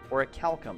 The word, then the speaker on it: orichalcum: get out of this and we get an orichalcum orichalcum that's how you pronounce it all right cool let's head to